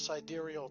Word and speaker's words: sidereal: real fast like to come up with this sidereal time which is actually the correct way to pronounce it i've been pronouncing it wrong uh